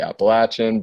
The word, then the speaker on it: Appalachian: the Appalachian Trail, and people have critiqued the way I pronounce Appalachian. I know people say Appalachian, but it's just my northern ways. So anyway, Appalachian Trail.